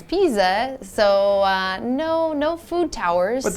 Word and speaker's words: Pisa: It's not pizza, but it's Pisa.